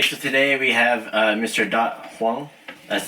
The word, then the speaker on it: Dat Hoang: Dat Hoang.